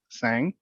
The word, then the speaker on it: Tsang: realty i have a special guest today grace sang did i pronounce it correctly yep grace tell us basically